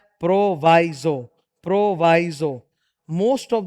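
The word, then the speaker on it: proviso: इसका उच्चारण प्रोविजो नहीं होता, प्रोवाइजो होता है, प्रोवाइडेड प्रोवाइजो, ठीक है।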